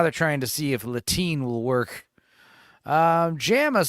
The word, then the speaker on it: Latine: Yeah, Latine is the new thing, which rhymes with latrine.